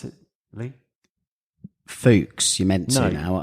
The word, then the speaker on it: Fuchs: You say, how do you pronounce it, Lee? Fuchs, you meant to now. Foosh is how we've been saying it for eternity.